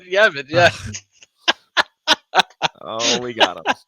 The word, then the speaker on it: Yavin: Yarvin? Yarvin. Did I not say Yarvin? Did I say it right? You said it right. No, you said damn Yavin. it. You actually said Yavin.